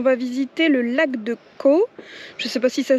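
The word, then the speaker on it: Coo: On va visiter le lac de Caux. Je sais pas si ça se dit comme ça, mais ça s'écrit C-O-O.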